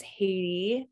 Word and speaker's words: Haiti: Hi, my name is Haiti. I always like to say that it's pronounced like the country because I'll have people pronounce my name back wrong to me always.